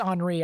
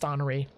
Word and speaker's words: Henri: i believe it's pronounced henri i believe anyways i would think it's pronounced honoree because it seems to be french either that or it's henry but i think it's henry so very interesting to